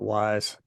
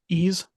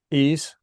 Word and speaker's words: Ys: Now people people pronounce this differently. I always call it wise. Well, What it is a Y and an S, so that makes a lot of sense. It's pronounced ease. ease, Mm-hmm.